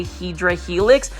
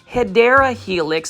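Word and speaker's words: Hedera helix: I purposely say Hedra Helix because I really thought that that was the correct way of pronouncing Hideera Helix. So thanks to the Plan Fully that gave me the insight that that was the incorrect way of saying it.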